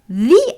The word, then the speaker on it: the: Sometimes people say the correct pronunciation هو أستخدمه لما الكلمة اللي تتبع الارتكل تبدي ب vowel sound. For example, the apple. ما أقول the apple. It's the apple.